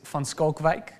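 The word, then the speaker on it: van Schalkwijk: And also the correct way of pronouncing his surname, which no one will get, is van Skalkwijk.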